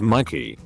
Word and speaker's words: Mikey: own name my name's mikey first day of senior year english english comma my teacher called me mickey reading the seating chart after correcting her she said she'd have